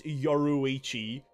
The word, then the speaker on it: Yoruichi: Actually, her name is Yoriichi. I'm just gonna say it wrong because you've now corrected me, Levi. I'm just gonna say I know it's Yoruichi.